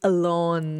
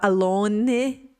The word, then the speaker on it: alone: Porque aí eu vi que o E no final não é pronunciado e nem o início da palavra não começa com A, né, em relação à pronúncia.